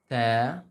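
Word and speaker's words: ت: To keep a slight smile when you pronounce like ta, ta.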